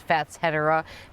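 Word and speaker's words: Fatshedera: in love this is fat shouldera or if you want to pronounce it properly apparently it's fats hetera because it's a combination between fats fatsia and hetera I think thatchedera is more fun to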